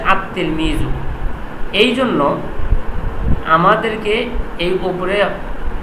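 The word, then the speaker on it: التلميذ: তিলমিজুন এখানে আছে আতলমি আতলমিজু অথচ এখানে কি লাম আছে অথচ বলা লাগ কি আল তেলমিজু কিন্তু না এখানে লামটা উচ্চারণ না হয়ে তা ডাবল উচ্চারণ হচ্ছে আতলমিজু এইজন্য আমাদেরকে এই উপরে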